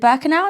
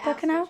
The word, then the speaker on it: Birkenau: We are doing a full tour with Get Your Guide, starting off in Auschwitz and is it Birkenau? Is that how you say it? Yeah, Birkenau?